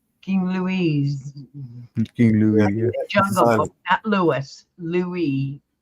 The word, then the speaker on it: Louis: you're right yeah King Lewis not Lewis Lewis Lou Lou yeah King Lou King Louise King Lou Louis Louie the S is silent Louie yes like camella's trying